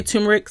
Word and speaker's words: turmeric: tell you about is turmeric turmeric some people say tumeric some people say tumeric